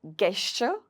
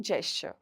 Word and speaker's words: gesture: Similarly GESTURE इज नॉट गेस्चर, इसको बोला जाता है जेस्चर।